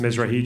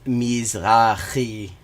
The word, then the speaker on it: Mizrahi: Because a lot of Jews lost a lot of property in the Middle East, Mizrahi Jews, in the... That's not how you pronounce that. It's Mizrahi.